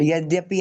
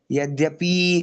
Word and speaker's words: यद्यपि: गलती कर दे ना जैसे यद्यपि शब्द है। तो यद्यपि ऐसे बोल के आगे बढ़ो। हम क्या गा देते हैं उसको यद्यपि खींच देते हैं तो मम्मी फिर आकर हमको बाद में बताती है प्यार से कि भैया छोटी इ की मात्रा है तो बड़ी बड़ी ई की तरह क्यों उच्चारण करना है तो ऐसे